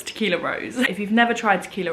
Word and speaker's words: Tequila Rose: I'm just going to premise this by saying that I go between calling it Tequila Rose and Tequila Rosé. The correct pronunciation is Tequila Rose, but it's so ingrained